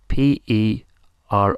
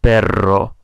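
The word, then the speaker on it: pero: is b b spell p e r o b that similar to the word for dog but it's only spelled with one R so it's pronounced per for but not per which has got a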